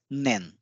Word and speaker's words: 年: is the counter for year and it is pronounced as nen and friends we have studied this kanji character